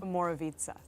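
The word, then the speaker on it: Omorovicza: Moravica.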